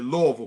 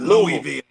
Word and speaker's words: Louisville: for louisville louisville it's it's actually louisville coach i'm gonna have to get you on your pronunciation like you like to get people okay yeah yeah it's okay yeah it's not louisville but it's louisville all right cool cool